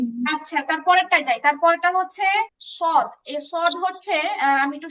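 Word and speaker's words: ص: আচ্ছা তারপরেরটায় যাই তারপরেরটা হচ্ছে সদ এই সদ হচ্ছে আমি একটু সহজে যদি বলি তাহলে এটা একটু আগে সিন উচ্চারণ করলাম সিনটা হচ্ছে আরেকটু কি বলে এটাকে মোটা করে উচ্চারণ করলে সদের উচ্চারণ হয়।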